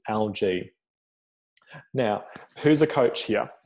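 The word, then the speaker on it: ALGEE: algae action plan and that's how you say it algae for all of you who've done the program you'll you'll have gotten this drilled into you it's algae not algae like you know the scum on the top of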